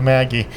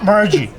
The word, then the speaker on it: Margie: Ladies and gentlemen, finally I got the chance to speak to Maggie. So, Margie. Margie, like, let me pronounce it correctly, Margie, and we are here in the part of the Williamsburg, right?